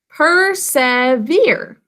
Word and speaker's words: persevere: Persevere. 3 syllables. In the first syllable, what are the sounds you hear? P, 2 sounds. The is earthier of her. Next syllable, s, v, 3 sounds. Basic code. And finally, e, 2 sounds.